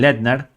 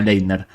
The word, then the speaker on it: Laettner: I hate Christian leiner yo odio a Cristian letner no leiner que difícil me gusta